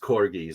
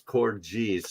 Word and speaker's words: Corgis: corgis uh I've always I always thought it was pronounced corgis I was told it was core G's soft G I don't know but